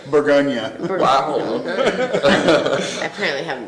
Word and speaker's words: Bourgogne: What French word do Americans in the Willamette Valley mispronounce more than anything else? Like what really grinds your gears? What is it? Bourgogne. Bourgogne. Bourgogne. Bourgogne. There we go. It's Bourgogne, right?